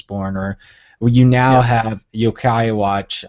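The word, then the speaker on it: Yo-kai Watch: or you now have Yokai Watch I'm probably butchering that name but that's like a Pokemon no you're not you're exactly saying it right okay watch and you've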